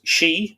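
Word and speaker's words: sídhe: worshiped the she now in irish that's s-i-d-e and that is spelled to various number of ways that's my father d s i for the d-h-e etc pronounced she s-h-e-e i.e the earth gods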